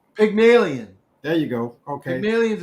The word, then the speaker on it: Pygmalion: you're gonna help me for not help me pronounce this sure pagmalian pygmalion there you go okay millions an old character